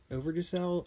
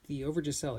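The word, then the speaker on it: Overijssel: Now, the issues, and I have a hard time saying this, but I believe it's Overyssel, Overyssel is how it's spelled, / Batavia.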